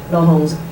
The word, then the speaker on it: Laurence: Laurence pronounces in the French way because she's a French-Canadian, and Lin Fo, the Birmingham team, and I'm the only person from the Cardiff team.